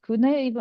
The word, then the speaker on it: Kune: Tell me a bit more about the business was called Kune. Am I pronouncing that correctly?